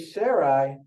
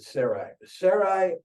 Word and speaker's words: Sarai: God gave Sarai, that's the way I'm going to pronounce it, Sarai, a new name, Sarah, and blessed her.